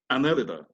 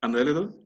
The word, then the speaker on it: Annelida: of annelids or phylum Annelida. Some pronounce it Annelida, others pronounce it Annelida. Okay, you have the choice, either Annelida or Annelida.